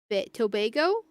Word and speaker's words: Tobago: Tobago. That's how you're supposed to pronounce it.